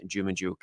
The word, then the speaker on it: Dzhumadzhuk: all around nice guy it is Mr Ivan jumuk how are you doing my friend I'm very